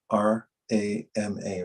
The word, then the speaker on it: rama: so i'll say today two syllable mantra r a m a rama i'll say it five